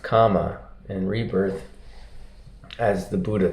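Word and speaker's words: kamma: for you about um Karma and rebirth or in poly it's pronounced comma and rebirth as the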